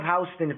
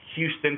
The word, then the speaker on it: Houston: South of Houston, for y'all that don't know. It's Houston, but they call it Houston. Yeah, it's Houston to Texans. In New York, they pronounce it Houston.